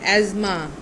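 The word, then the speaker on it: asthma: एज़मा. एज़मा. TH is silent.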